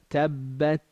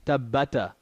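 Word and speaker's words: تبت: So tabbat yada. It's like I'm saying the letter. I'm not saying tabbata. That would be qalqala if I were to say tabbata yada.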